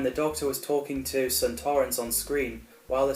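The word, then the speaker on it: Sontarans: died of fright also donna's mispronunciation as santorans was actually the original pronouncing in the time warrior the first episode santorans appeared but kevin lindsey who played lynx pronounced it as santorans just like we all do and he won the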